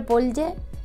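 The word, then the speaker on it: Polje: En verdad la palabra es, no sé si es eslovaca, checa, y se escribe Polye, ¿vale? Se pronuncia Polye, y nosotros la hacemos plural en español, aunque no es realmente correcto este plural, ¿vale?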